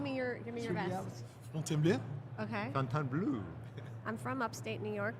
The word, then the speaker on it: Fontainebleau: Fontainebleau. oh, Okay, give me your vest. Fontainebleau? Okay. Fontainebleau. I'm from upstate New York. There's more cows than people. Fontainebleau.